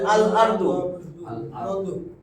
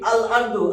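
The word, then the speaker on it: الأرض: এই র আর দ, আলিফ লাম যোগ করছি, একটা উচ্চা যাবে, তাহলে আল আরদু। তাহলে আরদুনের সাথে আলিফ লাম যোগ করছি, আল আরদু, আলিফ লামের আল উচ্চারণ হয়েছে, লামের উচ্চারণটা হয়েছে, তাই তো?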